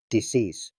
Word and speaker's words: decease: In modern English, the word is pronounced with stress on the second syllable, decease.